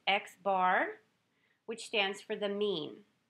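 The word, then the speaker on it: x̄: of various symbols, and the first symbol is pronounced X bar, which stands for the mean.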